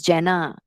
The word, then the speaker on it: Jena: It is pronounced as Jena, but like written as Jena, but it's pronounced as Jena.